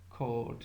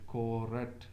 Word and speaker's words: court: You say formerly, formerly, court. You don't say correct.